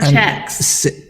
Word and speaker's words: Czechs: And Czechs.